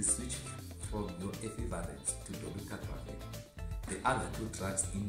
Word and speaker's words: dolutegravir: We can pronounce dolutegravir as dolutegravir.